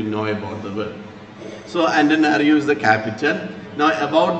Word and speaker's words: Antananarivo: It's a difficult name to pronounce here. You can say Antananarivo. Antananarivo.